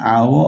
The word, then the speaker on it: hour: but here after an hour of waiting i finally met dr smith an hour this is our big although it's uh it with the letter h but the pronunciation is just hour so we say an